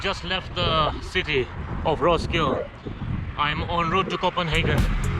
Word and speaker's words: Roskilde: For example, like Roskilde, it's actually spelled as Roskilde. So after the K-I-L there's a D-E, but you don't pronounce the D-E.